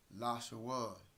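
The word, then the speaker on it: לשון: Lashawan. There is la, sha, one, lashawan.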